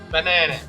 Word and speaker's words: banana: We have the word banana. Banana! Banana! As you can see, the strongest syllable is the na.